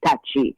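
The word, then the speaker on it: Tacky: And by the way, that's not how we pronounce his name. We have learned that his name is Tachi. But for the sake of those persons who will not recognize it as Tachi, we will continue to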